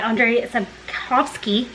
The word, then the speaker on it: Andrzej Sapkowski: And then also I decided to go ahead and get a start on The Last Wish by Andrzej Sapkowski, is how I learned it's pronounced.